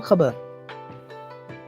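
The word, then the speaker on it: خبر: Let's pronounce the Arabic terms. Mubtada or khabar.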